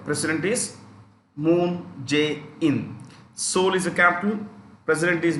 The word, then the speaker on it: Seoul: see this capital here this is pronounced with a silent e is silent is silent so it's pronounced soul um moon j in